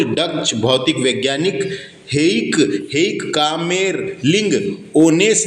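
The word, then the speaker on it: Kamerlingh Onnes: हेइक कामेरलिंग, है ना, कामेरलिंग ओनेस, ओनेस, है ना। क्या है यहाँ पे प्रोनाउंसिएशन गलत लिखा रहता है दोस्तों बुकों में, इसलिए मैं आपको सही नाम बता रहा हूँ।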